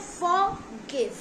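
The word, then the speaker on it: forgive: इसमें भी फॉरगिव जैसे ही है, इसमें हमें आर को प्रोनाउंस नहीं करना है, हमें बोलना है फॉरगिव, फॉरगिव।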